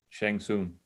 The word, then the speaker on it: Shang Tsung: And also Lo Pan was a direct inspiration for Shang Tsung. I don't know how you pronounce his name, the guy that oversees the tournament. Shang Tsung.